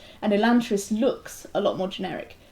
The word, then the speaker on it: Elantris: Yes, although I have heard Sanderson himself pronounce it Elantris. Elantris. I don't know if that's just an American accent or he meant to put a U in there somewhere. But yeah, okay.